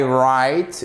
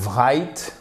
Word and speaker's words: write: I write et non pas I write. Ok, ici vous ne prononcez pas le W, vous ne prononcez pas s'il vous plaît.